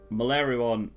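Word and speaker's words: Meleoron: Because otherwise, if you say it how it's spelled, it's like Melioron, which is so hard to say.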